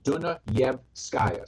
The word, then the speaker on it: Dunayevskaya: Break it up into 3 parts. Dunayevskaya.